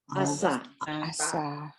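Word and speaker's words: עשה: Ayin is silent, just pronounce the vowel under it. Asa.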